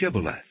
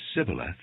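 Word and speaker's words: Shibboleth: they said all right say shiboleth if he said sybileth because he could not pronounce the word correctly they seized him and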